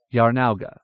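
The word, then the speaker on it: Jarnauga: pronunciation in the following J pronounced y capital j a r n a u g a Yar now capital h j e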